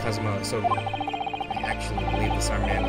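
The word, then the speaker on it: Kazuma Asogi: It's pronounced Kazuma Sogi.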